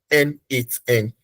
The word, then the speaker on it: n8n: So tonight we are going to be using what we call N8N. N8, which is spelled as N then.